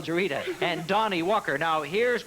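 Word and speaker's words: Juereata: your name is Walker and it's do you pronounce that jarita jarita isn't that funny I have a secretary called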